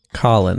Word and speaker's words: Kallen: wish to wake you Colin that's how it's pronounced this time it broke